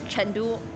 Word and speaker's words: Chengdu: Like for example, Chengdu, which you guys would pronounce, the city with the pandas. It's just pronounced Chengdu in Chinese. It's basically the same, right?